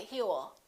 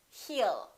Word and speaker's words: he'll: you he will remember don't pronounce that w a lot of my students still tend to put little w and they say he will it's not heal it's he'll heal he'll call you